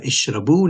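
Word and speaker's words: اشربوا: letter in a verb, you have to put that silent alif, which is the blue alif. So you have ishrabu now, and of course the alif is silent, and it's called al-alif al-fariqa.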